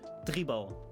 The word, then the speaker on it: tribal: tribal like tribal and dutch would be tribal because the um i in dutch is pronounced as e so um the funny